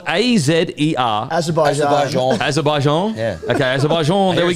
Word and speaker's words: Azerbaijan: Tune in this weekend to watch every practice qualifying session and Azerbaijan Grand Prix, live on Vox Sports. Race is on 9 p.m. Sunday night, Australian Standard Time. It's spelt A-Z-E-R. Azerbaijan.